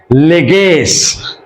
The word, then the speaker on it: leges: its plural pronounced as leges keep in mind that I'm talking about the Latin pronunciation let's means law and